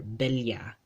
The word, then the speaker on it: bella: Whenever two L's are spelled side by side in a Spanish word in the Philippine Spanish dialect, they get pronounced as a li. Cabello, cabello, cabello, or bella, bella, right?